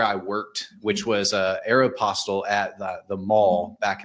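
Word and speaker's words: Aéropostale: worked which was uh Aeropostel at the the mall back in the day. Aeropastel. Yeah, that's how you're supposed to say it, but like I say it like that.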